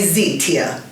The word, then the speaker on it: Zeeteah: And I said, well, if you can say Beyonce, you can say Zeeteah. You know, 3 syllables there.